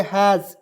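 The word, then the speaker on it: has: आएंगे ध्यान से देखिएगा एच ए एस तो इसे पढ़ेंगे हैज एच का उच्चार ह के रूप में दो कंसोनेंट के बीच में ए आएगा उसका उच्चारण ए के रूप में करेंगे है इस का उच्चारण ज के रूप में करेंगे ठीक है यहां भी हम लोग स के रूप में नहीं करेंगे ज के रूप में करेंगे ठीक है तो हैज हो जाएगा और इसका हिंदी होता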